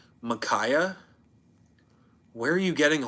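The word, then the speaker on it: Mykah: Like, where are you getting an a Y from at the end of my name? It's M Y K A H. Um, McKay, I've heard that one a decent amount.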